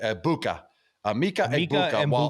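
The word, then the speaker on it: Egbuka: It is a silent G. I bua Mika.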